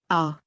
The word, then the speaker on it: ho: It sits there and says nothing. O, ai, a.